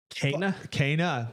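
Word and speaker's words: Kena: the pronunciation of this is it kenya it's not kenya because that's the country in this first start kenny uh kana bridge of spirits cana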